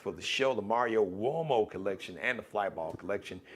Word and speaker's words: Uomo: The U-O is like got the what sound. Italian, all right?